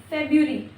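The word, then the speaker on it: February: फिर हम बोलते हैं फेब्रुअरी, फेब्रुअरी, this is फेब्रुअरी, फेब्रुअरी। आर का उच्चारण करना है यहाँ पे हमें।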